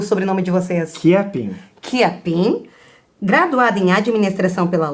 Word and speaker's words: Chiappin: Como é que se pronuncia o sobrenome de vocês? Chiapin.